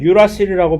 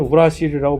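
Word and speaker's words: uracil: 그런데 요 RNA의 경우에는 요 티민 대신에 유라실이라고 영어로는 유라실이라고 발음을 하는데 한국말로는 우라실이라고 보통 쓰는데 유라실이 티민 대신에 대리 출석을 하고 있어요.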